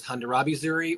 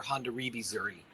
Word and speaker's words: Hondarrabi Zuri: You'll see it as Hondarrabi Zuri or Hondarrabi Zuri.